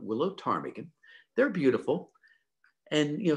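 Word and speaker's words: ptarmigan: alaska is the willow tarmigan the p is silent willow tarmigan they're beautiful and you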